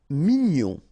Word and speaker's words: mignon: Mignon. Okay. here in that case, G-N-O-N, gnon, mignon.